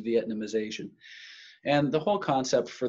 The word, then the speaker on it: Vietnamization: the way that word is spelled and it's pronounced Vietnamization and the whole concept for that is this